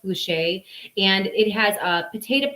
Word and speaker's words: Boucher: It's from Boucher or Boucher, Boucher, pronounced Boucher.